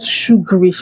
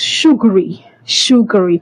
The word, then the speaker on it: sugary: This word is not pronounced as sugarish. Your tea is not sugarish, my brother. Your tea is not sugarish. It is sugary, and not sugarish.